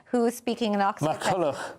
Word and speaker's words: MacCulloch: Professor Diarmuid MacMulloch, who is speaking in Oxford. MacCulloch. Not MacMulloch. MacCulloch, I'm so sorry.